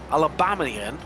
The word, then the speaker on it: Alabamian: And now joins us our resident Alabamian. Would that be the correct pronunciation of it, Charles Michel?